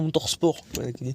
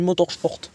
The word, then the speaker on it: Motorsport: sport Motors sport oui et pas Motorsport ça s'écrit Motorsport ça se dit Motors sport voilà donc vous faites